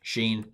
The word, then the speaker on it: Shin: So sheen, and it's sh sound, and then seen is s sound.